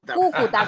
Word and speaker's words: Cúcuta: Es Cúcuta, con acento en la primera U.